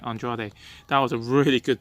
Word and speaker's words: Andrade: Yes, I said it right, Andrade.